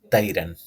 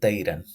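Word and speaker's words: طيران: the letter ta, this would sound like tayran, tayran. But this is not tayran. This word is tayran, tayran. Notice how heavy and full of, like, my mouth full it sounds like when I'm pronouncing this letter ba. This is tayran.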